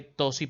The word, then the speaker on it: ptosis: le llama ptosis palpebral escrito se escribe con pt dosis dosis pero sin nombrar la p pero si lo va a escribir se escribe pt en una palabra griega